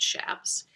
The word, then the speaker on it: chaps: authenticity must consist of cowboys with their chaps pronounced shafts their wide brim or 10 gallon as we